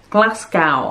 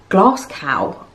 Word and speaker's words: Glasgow: was british and from glasgow and i was like where's glass cow oh he means glasgow and he's pronouncing it as glass cow as if it rhymes with how americans say moscow i mean glasgow does